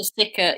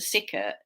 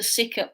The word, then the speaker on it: Sickert: Walter Stickert. Yeah, Yes, Sick. I interestingly, said the name wrong. Yes. he said he made the connection about Walter Sickert about 20 years before